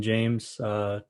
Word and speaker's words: Jaimes: Nebraska left tackle Brenden Jaimes. Did I say your name right, first of all? It's actually pronounced Jaimes, but Oh, I okay. get James a lot. Yeah, it's pronounced Jaimes.